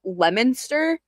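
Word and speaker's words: Leominster: in the UK, but like we have a Lemonster. Lemonster. Okay. But it's spelled like Leo Minster. Okay. Okay. Yeah. I don't I don't get it, but that's how we pronounce it.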